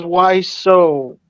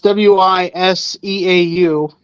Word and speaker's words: Wiseau: Felix then says, why so? Oh, that's how it's pronounced.